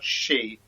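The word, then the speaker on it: Sidhe: this is where she you don't you don't say the D it's pronoun she she yeah um which is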